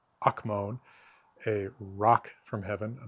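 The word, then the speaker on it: ἄκμων: I think the accent is on the first syllable there ak- akmon.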